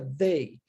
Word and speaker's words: they: E nós temos aqui um TH, porém esse TH é o que nós chamamos de TH vozeado, porque ele é, de certa forma, pronunciado da seguinte forma, ó, tá vendo? Repare que a minha língua está entre os dentes, ok? Mas tem um sonzinho nele, né? Ó, Isso é o que nós chamamos em inglês de TH com a pronúncia do som vozeado.